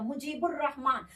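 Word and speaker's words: مجیب الرحمٰن: यहाँ देखिएगा मुजीबुर रहमान, तो लाम के बाद रे है, तो देखिए तो रे कहाँ है, शमसी हरूफ में है रे, इसका मतलब यहाँ तलफ्फुज इसीलिए नहीं हुआ है क्योंकि रे आ गया, तो रे जो है वो शमसी हरूफ है।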